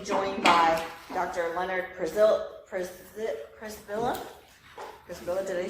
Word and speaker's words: Przybilla: Przybilla, did I say that? Or how do you say it? In Germanish, it's Przybilla. Okay. And originally it's Polish, and it's still different, so you're perfectly fine.